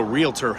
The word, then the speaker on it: realtor: investing it's three words even though realtor only has two syllables some people need to